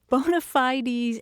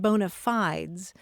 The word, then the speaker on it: bona fides: But anyway, bonafidees and bonafides are usually the pronunciations heard in the United States.